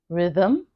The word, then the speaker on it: rhythm: For example, rhythm, there's no vowel, but the schwa sound exists in that word.